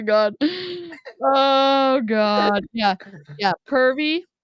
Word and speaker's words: Purvii: oh God yeah yeah pervy is what we're calling it apparently it's purv but I'm not I'm not acknowledging that pronunciation it's like um when